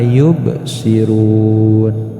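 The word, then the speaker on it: يبصرون: Jadi jangan dibaca la yubsirun, harus ada pantulan. Ad, aj, ako, apo, kurang lebih seperti itu. La yubsirun.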